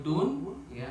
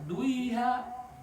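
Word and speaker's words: دنيا: Nun mati yaitu dun ya menghadapi ya. Tapi satu kata Pak Ketua enggak boleh dibaca duiha. Betul enggak? Jadi tetap bacanya dunya. Dunia gitu. Itu namanya izhar mutlak. Izhar harus jelas bunyi nunnya.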